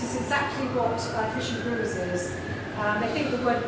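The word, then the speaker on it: brewis: they have over there is called fish and bruise which is spelt b-r-e-w-i-s um and it's basically heart attack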